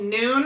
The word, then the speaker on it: Nuun: next drink thing is from a brand called noon it's spelled n-u-u-n it is a uh like almost